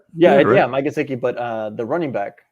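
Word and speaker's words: Mike Gesicki: they have parker they have wolf fuller uh mikasiki they're tied in uh what's his name oh you said it right yeah yeah mike sicky but uh the running back uh gaskin so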